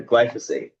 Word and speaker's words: glyphosate: I added an extra syllable in there. Glyphosate.